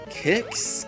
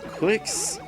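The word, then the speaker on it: Qix: mention a game called kicks quicks uh not entirely sure how it's pronounced q i x is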